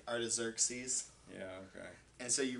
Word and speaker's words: Artaxerxes: it's like a r-tx ERX yes but it's pronounced like artaxerxes yeah okay and so you read it in